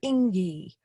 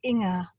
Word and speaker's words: Inga: It was meant to be endearing, the way some said dingy Ingy, but it's Inga, and it's pronounced with the ing sound soft as the endings of gerund verbs, verbs like running